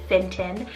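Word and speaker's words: Fintan: Another option here is the name Finton, spelled F-I-N-T-A-N, Finton.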